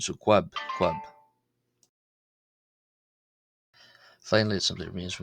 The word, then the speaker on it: ⲭⲟⲩⲁⲃ: and then a vowel, it's a qu sound as opposed to a cu ab sound. So quabb.